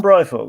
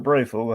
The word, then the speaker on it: Breyfogle: Norm Breyfogle, or Breyfogle, however you like to pronounce it. Uh, Adam Beechen kind of pronounces it Breyfogle, and I I'm kind of inclined to kind of err on that side, cuz he worked with him.